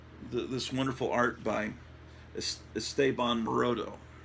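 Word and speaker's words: Esteban Maroto: this wonderful art by estaban morodo I used to pronounce it Esteban moroto I think it's it's basically the Spanish name for Stephen is estaban at least that's what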